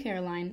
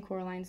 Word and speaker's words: Coraline: time she met her you see caroline miss pink said getting coraline's name wrong both myself and miss